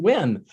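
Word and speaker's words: Nguyen: In Vietnamese, it's pronounced Win. I would always say David Nugent, and he never, ever corrected me ever.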